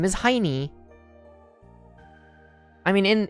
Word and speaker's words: Heini: and his name is Heini. I mean, in in the English dub, they kind of they try to save it by pronouncing it Heine, but it it's it's Heini.